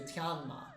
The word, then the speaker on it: Tianma: Next up, we have Sei Tenma, although in Chinese the pronunciation would be closer to Tianma.